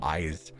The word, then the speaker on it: Ice: Fu here's my cat ice pronounced like eyes and Ice oh eyes just wanted to say